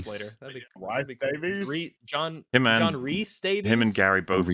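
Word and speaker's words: Rhys: it both ways so but Reese is definitively Reese. It's a Yes. John Reese Davies Gimly don't worry you will forget and you'll instinctually call him Rise and it's okay.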